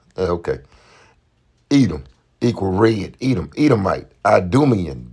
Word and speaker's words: Edom: That's how they pronounce it. Edom. Okay. Edom equal red.